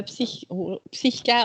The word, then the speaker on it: PSYCH-K: La première question, donc, c'est qu'est-ce que Psyché? Est-ce que vous pouvez nous expliquer un petit peu? Oui, donc le psycha ou le psyché, c'est comme on veut le prononcer dans différentes langues.